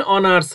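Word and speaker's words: honours: ইজ অ্যান অনার্স graduate, এইচের এখানে উচ্চারণ অ এর মতো হচ্ছে অথবা সাইলেন্ট থাকছে, তাহলে অনার্স বলতে প্রথমে অ উচ্চারণ হচ্ছে, অ অ, যেমন বাংলায় স্বর স্বর অ, তাহলে এই অ উচ্চারণ হওয়ার কারণে আমাদের এখানে অ্যান হবে, হি ইজ অ্যান অনার্স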